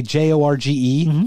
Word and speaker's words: Jorge: i saw a guy j-o-r-g-e from mexico yeah pronounce his name george that's it's possible is that a normal thing no because that's not it's jorge it's jorge jorge okay so jose jose